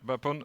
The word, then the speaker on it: Bapon: And here, Bapon, do I pronounce it right? Yep, Bapon.